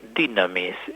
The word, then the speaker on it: dynamis: Bueno, justamente esto que es nuestra realidad, nosotros somos cuerpo y alma, está, digamos así, animado por en griego se dice dynamis. Esa pronunciación es así en griego.